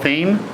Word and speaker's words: Thieme: Evan row level our net player and team so they pronounce it right is a trumpet